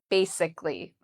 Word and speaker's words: basically: So how do we pronounce basically? So I've written it out here, how I would say it. Bay is the first part, and that's where the stress is.